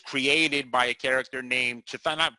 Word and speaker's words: Chthon: by a character named chathan people say kathan I say it's chathan I don't know CH h t h o n I don't know when